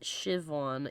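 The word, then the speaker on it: Siobhan: spelled seus pronounced Sheamus spelled cobon pronounced shivon yeah true that the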